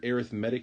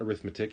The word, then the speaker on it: arithmetic: of vocabulary terms here arithmetic sequence not arithmetic arithmetic is a SE